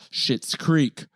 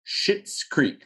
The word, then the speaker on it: Schitt's Creek: shit's creek go guys gals children aliens out there